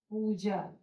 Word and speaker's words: पूजा: पू, जब बड़ा की मात्रा लगा है, इसमें ज्यादा समय लग रहा है और खिंचाव आ रहे हैं उच्चारण करते समय।